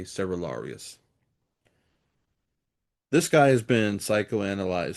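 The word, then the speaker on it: Cerularius: And I've heard his name pronounced several different ways. I'm going to try to just be consistent in my own pronunciation here and just say Seralarius.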